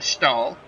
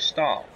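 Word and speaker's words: Staehle: in the plate Marg I believe his name's pronounced all sta eh le I think the H is silent I'm not quite sure so I'll be calling him stall Marv stall comes up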